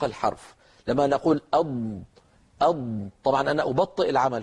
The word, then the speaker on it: ض: في اللغه العربيه حرف الاضاد يتحرك المخرج اثناء نطق الحرف لما نقول اض اض طبعا انا ابطئ العمل هو العمل اسرع